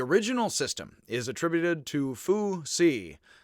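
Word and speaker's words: Fuxi: X is pronounced sort of HS with a bit of an H on the beginning of an S, and I fake it again and just try to make it.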